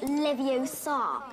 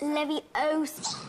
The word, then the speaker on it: Leviosa: It's not Leviosa. It's Leviosa.